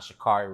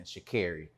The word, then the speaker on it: Sha'Carri: So I also want to really quickly put in, I also mispronounced her name. It's not Sha'Carri Richardson, Sha'Carri.